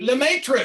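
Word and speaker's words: Lemaître: Spell it, remind me. It's Lemaitre. Lemaitre, sure, yes.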